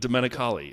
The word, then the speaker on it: Domenicali: here we go Stefano domali no you were good domenicali is the way okay that guy he